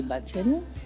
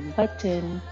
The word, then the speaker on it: button: Open the belly button. Belly button, button. You can pronounce the T if you want. Say button, belly button.